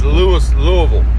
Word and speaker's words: Louisville: I think it was that's Louisville not Louisville not Louisville it's Lewis Louisville all right Louisville that's how you say it all right anybody says